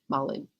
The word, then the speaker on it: Malin: I am French, but it's a pen name, so I pronounce it like the Swedish name, I guess. Oh, Swedish. Malin? Malin. Let's go with that. It sounds more like an IKEA name when I say it that way.